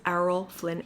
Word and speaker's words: Errol Flynn: It is Arrol Flynn.